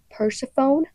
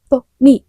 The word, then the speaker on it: Persephone: new class and then my teacher is like persophone or if I'm at the doctor and they're like pers. It's not how you say it. It's not how you say it. It's pony.